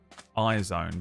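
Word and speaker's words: IZ*ONE: And then they ended up in a group called Isizone, but it's spelled is one. It's like I asterisk one, I think.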